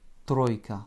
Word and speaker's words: тройка: Pour écrire le mot тройка, nous avons besoin du T, du R, du O, I краткое, K, A. Тройка.